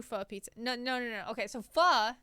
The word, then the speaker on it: pho: Just delicious pho. Yeah, it's pronounced F-U-H. It's because it's Vietnamese. It's not English.